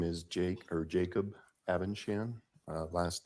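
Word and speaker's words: Abendschan: record um my name is Jake or Jacob avenshan uh last name is spelled a b e n d s c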